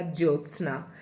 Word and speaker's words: ज्योत्सना: ज यो आधा त फिर आधा स और न। इस शब्द की आप प्रैक्टिस कर लें तो आपका बिल्कुल सही हो जाएगा ज्योत्सना। इसका उच्चारण करेंगे ज्योत्सना।